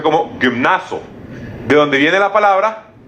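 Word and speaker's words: γυμνάζω: la palabra en griego es que se se pronuncia como gimnaso de donde viene la palabra que Diego más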